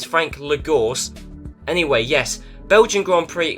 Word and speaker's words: Lagorce: said his name, and it's Frank Lagorce, because obviously that's how it's spelt, and I have no idea why I thought it was Lagarush. I don't know, I have no idea why I thought the CE would make a sh sound, but anyway, yes, it's Frank Lagorce.